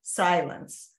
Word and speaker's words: Cylance: brand was Silence, but it was spelled Cylance, but it's pronounced Silence.